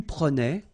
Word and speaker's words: prenais: So same thing here, final S not pronounced.